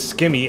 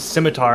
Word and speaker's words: scimitar: i did skimmy yeah i used to say rune skimmy i think i said scimitar because it's like scissors ooh smart i just heard of a scimitar from runescapes and and it was spelled like people would shorten it to simmy yeah and i just assumed it was skimmy and then when i saw the real word scimitar i just thought it was scimitar yeah i felt